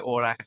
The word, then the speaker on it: Orlac'h: I'm here with Pierre Orlac'h from Sparteo. Yeah, thanks. Well pronounced.